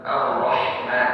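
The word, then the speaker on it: الرحمن: Ar-Rahman harus ha, kan Ar-Rahman.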